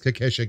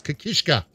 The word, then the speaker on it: Kishka: wonderful man he is Kesha get him in here I want to buff him I hope I've been pronouncing his name no I haven't it's kishka well I'm an idiot